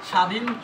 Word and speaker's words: স্বাধীন: প্রথম বর্ণের সাথে যদি ব ফলা থাকে তাহলে সেই ব এর উচ্চারণ ব এর উচ্চারণ হবে না।